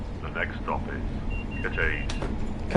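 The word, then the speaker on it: Cathays: Cafes, you say? Oh, I was thinking it was caffies.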